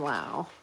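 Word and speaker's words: Laux: Um, but yeah, amazing poets and Lao is spelled L A U X. So, it's like this Dorian Lao.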